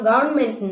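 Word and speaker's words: government: கிட்ட அதை திருத்தி சொல்லுவோம் இல்லமா இந்த இடத்துல ஆர் சைலெண்ட் நீங்க என்ன பண்ணனும் கவர்மெண்ட் தான் உச்சரிக்கணும் அப்படின்னு சொல்லுவோம் அதே மாதிரி இன்னொரு வார்த்தை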